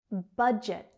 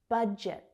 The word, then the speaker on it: budget: Budget. Budget. J, j. Budget. Budget. Budget.